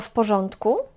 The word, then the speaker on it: w porządku: Wszystko w porządku? Pamiętajcie, że w porządku wymawiamy też jak jedno słowo i też wymawiamy jak f. W porządku. A literkę on, to a z ogonkiem, tutaj wymawiamy jak on.